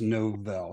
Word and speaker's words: Novell: Novell, is that correct? You know what? You did. Apparently, your favorite Christmas song is the first Novell.